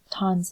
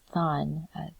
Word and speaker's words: Tan: exercise 2A and 2B, they pronounced Tan's name as Than, but I think that was wrong. I believe in the Vietnamese language, the TH does not sound like the American TH, like Thursday or therefore, but it's an aspirated T, like T. So Tan. I think that's the correct way to pronounce it, like this activity.